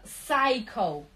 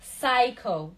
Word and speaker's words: psycho: Буква P не произносится psycho, psycho, psychology, psycho.